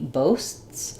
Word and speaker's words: boasts: So if I say he boasts about it, you don't hear s, t, s. You don't really hear that t, right? But you do hear two separate s's.